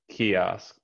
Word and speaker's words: kiosk: asked just chaos chaos the first syllable is stressed kiosk kiosk yeah just at